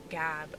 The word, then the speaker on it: Gab: Gab rhymes with drab.